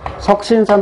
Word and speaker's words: 숙신산: 석신산 또는 숙신산이라고 발음하는데, 이 녀석이 품활산 될